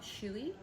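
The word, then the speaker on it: Chouilly: VIS the village of shuy yes pronounced like the shoy you might do after a see my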